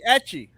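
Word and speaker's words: ecchi: It's not Eki. No. Oh my god, there he What do you is. mean it's not Aki? It's etchy.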